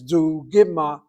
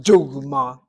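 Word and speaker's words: דוגמה: The word is pronounced dugma.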